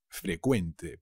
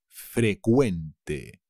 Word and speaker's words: frecuente: cuidado se dice frecuente frecuente pero la cv inglesa se convierte en una c que se pronuncia como una k frecuente los impuestos me tocan